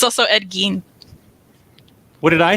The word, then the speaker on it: Gein: It's Ed Gein, which I've been mispronouncing for 40 years.